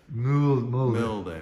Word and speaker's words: Mulder: Mulder. Okay. It's, same as Fox Mulder from the X-Files.